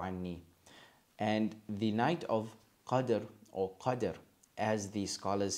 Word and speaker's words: Qadr: The first, so we have understanding, is Qadr with a sukoon on the dal. That means you join qaf and dal and dhara, Qadr.